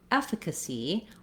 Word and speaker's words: efficacy: Then lastly, where we have a true change in the vowel is in efficacy, where we have first syllable stress. So this little line shows me the F syllable is stressed.